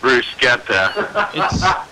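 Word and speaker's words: bruschetta: the the food Bretta you pronounce it brucea not BR that's how Italians say it brucea off the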